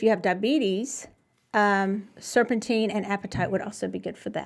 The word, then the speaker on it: apatite: everything during the holidays, apatite, it's not spelled like the word, but it is apatite.